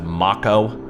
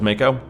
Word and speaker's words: Mako: of you noticed but Barrett is pronouncing Mako as Mach oh is that always how it's supposed to be pronounced am I the one that's weird here because I thought was Mako though I I guess if it's felt the same way in Japanese and it would be maka hmm I don't know